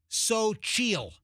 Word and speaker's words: Xochitl: So it's pronounced Sochil. S-O Sochil, C-H-E-E-L. Sochil.